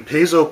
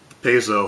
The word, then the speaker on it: Paizo: & Dragons now when Paizo publishing like initially what they did and I know there's two different ways to pronounce that I always called it Paizo because it had the a after the P but anyway they were